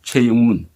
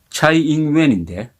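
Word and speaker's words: 蔡英文: 최영문. 차이잉웬인데 최영문이라고 그렇게 발음하는 게 참 좋은데 왜 꼭 굳이 중국 발음을 해야 되는지 저는 최영문이라고 하겠습니다.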